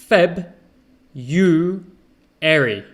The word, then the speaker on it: February: the b february now to make it easier most people don't pronounce the r it's feb you airy february february okay so